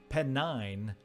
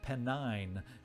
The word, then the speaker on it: Pennine: some promotions uh steve penny pet excuse me penn nine elliott i was corrected on my faulty pronunciation so i'm gonna have to break that old pronunciation habit out of my head uh i was told that it was pennine uh so i don't